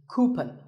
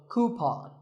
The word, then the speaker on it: coupon: one of these of a common incorrect pronunciation is cupen but the second syllable should be pawn so coupon here's word number 16